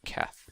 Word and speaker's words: Qeth: its own is pronounced cath just like a k so well the Q is pronounced like a k which makes the name Kath uh so that's why